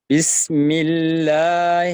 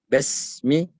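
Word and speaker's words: بِسْمِ: ketikan yang lain yang muncul surah al-fatihah habis bismilahi bismilahi Hirohman Nirohim ada kita pakai empat harakat Yang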